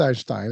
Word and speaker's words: Einstein: Well Albert Einstein and I'm I'm I'm throwing it in the German way.